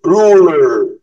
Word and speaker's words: ruler: ضم بقك في الاي ار كده. بص. Ruler.